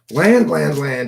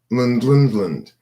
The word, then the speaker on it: Lund: Land is good too. That's an excellent name for a combination of Greenland, Finland, and Iceland. Lund. It's pronounced Lund, not land.